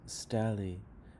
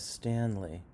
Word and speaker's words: Stanley: Rock Room you're kind of pronouncing this word as stally but the word is Stanley Stanley as Stanley entered